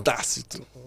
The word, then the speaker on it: Tácito: Então é isso o significado do meu nome, que leva acento, proparoxítona, Tácito. Tácito. Então falar desse jeito é a pronúncia certa.